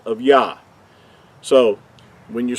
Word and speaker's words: Yah: it correctly or accurately so going back to the first two letters we know that this the first two letters are pronounced as yah we talked about that the